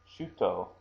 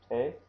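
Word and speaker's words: 手: That is hand, which is pronounced either te or shu.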